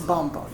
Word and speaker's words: Bomboni: Well, It's Bomboni. You got it right. It rhymes with Bamba, so you guys have that in common, you know?